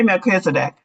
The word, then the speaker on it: Melchizedek: I say Melchizedek. I've heard it pronounced otherwise, but I'll say Melchizedek.